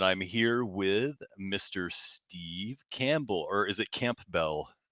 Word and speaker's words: Campbell: yeah I just it's Camp Bell is how you spell it and Campbell is how you pronounce it okay but as a